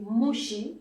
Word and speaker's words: moussi: Par exemple, si vous êtes originaire d'un village, on dit mouchi. Ici, donc, on a maintenant le son chi, dont je parlais tout à l'heure. On écrit si, moussi, et on prononce en l'arrêt mouchi.